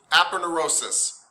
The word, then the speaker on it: Aponeurosis: How do you pronounce that again? 'Cause I've seen that on a couple examples. Aponeurosis? Aponeurosis.